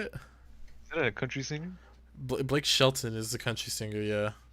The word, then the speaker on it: Blake Shelton: It sounds if you see how it's spelled. Ah, yes, Mr. Blake Shelton. Hello. I almost said Blake Sheldon.